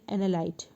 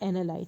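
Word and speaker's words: analyte: with the anal anal and I'm saying anal analy okay analy it is not anal it's analy sorry students I'm pronouncing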